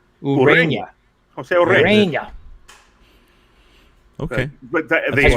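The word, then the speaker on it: Ureña: According to Baseball Reference, is correct pronunciation is Urena. Urena.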